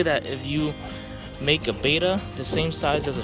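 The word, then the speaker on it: betta: Look at that beta, y'all. I know it's beta, but I pronounce it beta.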